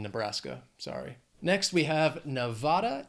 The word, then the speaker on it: Nevada: Next we have Nevada. It has three syllables, stress is on that second syllable. Nevada.